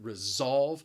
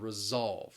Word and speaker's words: resolve: about is the pronunciation resolve notice that s really has the z sound resolve resolve and what it